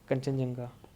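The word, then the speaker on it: Khangchendzonga: और आपका ये अब आते हैं 15th नंबर, कंचनजंगा। इसकी स्पेलिंग तो बड़े जिसमें डी साइलेंट हो जाता है, बट नो प्रॉब्लम, आगे चलते हैं।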